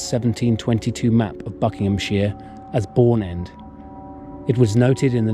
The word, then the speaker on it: Bourne End: 19th century however that the name had been corrupted to bone end apparently through local mispronunciation and thence on official maps and documents in 1858 the vicar of wubin succeeded in reversing the change and the corrected name remains in use today the length of the